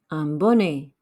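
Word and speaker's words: bonnet: in casket a beanie ambonie remember e t at the end makes an a sound some gloves de gong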